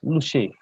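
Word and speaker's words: Lushai: Lusai should not be pronounced, Lusai should be pronounced as Lushe in local vernacular.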